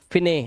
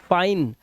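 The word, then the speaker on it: fine: nice time wife size अब इसे लिफ नहीं पढ़ना है लाइफ फिने नहीं गलत फाइन और लास्ट वाला इ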